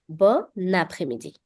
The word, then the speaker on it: bon après-midi: So instead of pronouncing these two words separately, bon and après-midi, I'm linking the n sound from bon with après-midi. Bon après-midi.